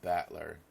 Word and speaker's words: Battler: so far that was my given name is made up of the characters for fight and person it's pronounced battler but all together and